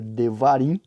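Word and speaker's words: דברים: que é deuteronômio né em hebraico a pronúncia seria devarim ia branco significa realmente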